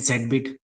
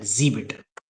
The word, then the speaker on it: zBit: Some people call it Zed bit. I get it because it's Zed, but it's it's pronounced at Zbit.